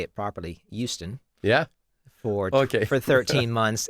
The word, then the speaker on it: Houston: I um I lived in in uh in to say it properly, Houston.